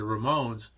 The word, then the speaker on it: Ramones: to say stones but the Ramones which rhymes with stones is a ro road